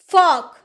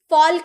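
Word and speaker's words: folk: गया है तो टॉक यानी कि बातें करना फोक फोल्क नहीं फोक यानी कि जन समूह वुड वुड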